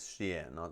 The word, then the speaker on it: Xi'an: it's in shean okay oh Zion is is xia not Zion Xi'an yeah that's how you said okay I get it